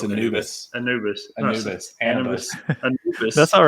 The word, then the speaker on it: Anubis: i guess right here i'm just saying it wrong anubis is what it is so yeah so oh